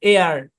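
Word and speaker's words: heir: আর কি তারপর দেখেন এইচ ই আই আর উচ্চারণ কি এখানেও এইচ টা সাইলেন্ট এ আর উচ্চারণ কি এ আর বাংলায় লিখলে এরকম এ আর এ আর মানে কি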